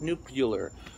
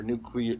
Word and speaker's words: nuclear: his a inability to pronounce words like nucular our nuclear excuse me he said nuclear is the joke because that's how you say it it's nuclear nuclear nuclear refers to having